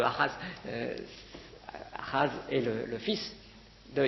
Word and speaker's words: Ahaz: Ahaz, ou Akaz si vous préférez, mais ça se prononce en hébreu Ahaz.